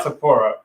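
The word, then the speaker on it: Topuria: How do I pronounce Illya Taporia. Taporia. Easy, actually. Taporia.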